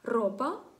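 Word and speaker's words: ropa: Запам'ятайте, якщо R одненька стоїть на початку слова, або якщо всередині слова є дві букви R підряд, і дві букви R підряд, то тоді вона вимовляється сильніше.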